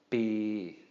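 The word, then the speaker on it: ปี: So Pò Pla with a long E is going to be a long mid-tone. Bi.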